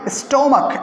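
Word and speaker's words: stomach: कर सकते हैं माई स्टोमक, एस टी ओ एम ए सी एच, सी एच का साउंड यहाँ पर क में जाएगा, और इसको ख यानी च का नहीं पढ़ेंगे, च प्रोनाउंस नहीं करेंगे, तो माई स्टोमक, क्या बोलेंगे इसको?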